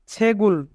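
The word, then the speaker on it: 책을: ইক্তা অর্থ বই পড়া এখানে গিয়ক বাচ্চিমের পরে ইয়ং থাকার কারণে গিয়ক বাচ্চিমটি ইয়ং এর স্থানে যাবে তাই উচ্চারণ হবে ছেগুল ছেগুল মানে বই যদি জোড়া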